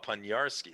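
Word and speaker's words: Poniarski: it doug ponierski so the o is pronounced like a u and the i is pronounced like a y see that's why i'm asking pun nice najarski so like panyarsky because if it was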